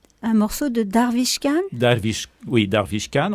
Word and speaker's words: Darvish Khan: Darvish Khan, on peut prononcer, c'est la prononciation en persan, Darvish Khan.